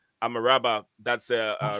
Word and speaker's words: Amrabat: But anyway, guys, if you're listening, the right pronunciation of Amrabat is Amaraba. Amaraba.